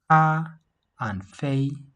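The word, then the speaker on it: 咖啡: See, cafe has 2 syllables, right? Ka and fei. Ka and fei. You see, and they both have the first tone.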